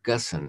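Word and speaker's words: Ghosn: him his name was carlos uh gussen hard to pronounce because it spelled geo when g-h-o-s-n or something anyway he was the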